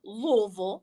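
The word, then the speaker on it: Louisville: Kentucky because I do love louville you gotta say it right there you go now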